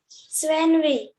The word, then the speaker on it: Svenvi: यस Svenvi, what is the pronunciation of your name? सर या आपका नाम क्या है? स्वेनवी।